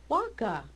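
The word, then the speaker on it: vacca: Waka. See, Waka. see, waka. Now in Spanish is vaca, because that's when the pronunciation changed. But the classic Latin, Waka. so there's no V.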